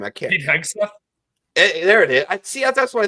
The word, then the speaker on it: Hegseth: We'll see if please see if you can figure out how to pronounce this new SecDef nominee's name. His last name I can't. Hegseth? There it is. That's what I thought it was. Hegseth.